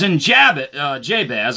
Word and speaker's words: Jabez: says in jabba uh jabez i believe that's how he's supposed to pronounce his name jabez i guess i can depend on where you're from what your accent is but and jay's jabez